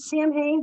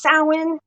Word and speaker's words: Samhain: Every Halloween, which is Samhain, people pronounce it Samhain. That's wrong. It's Samhain.